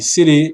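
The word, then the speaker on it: Tsere: O Tsire, pronúncia o nome Sire, Sire é um E, como em V, e novamente um traçozinho em cima da vogal.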